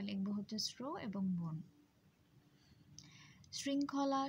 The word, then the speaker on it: শৃঙ্খলা: শৃঙ্খলা শব্দটির উচ্চারণেও আমরা দেখতে পাচ্ছি শৃং বলছি আমরা, শৃং বলছি না, অর্থাৎ স্ব উচ্চারণ না করে আমরা ছয়ের মতো অর্থাৎ দন্ত স উচ্চারণ করছি। এবং এই জন্য আমাদের প্রথম অক্ষর হচ্ছে শৃং হসন্ত এবং পরের অংশ হচ্ছে খলা।